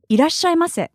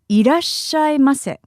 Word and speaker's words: いらっしゃいませ: Irashaimase. Irashaimase.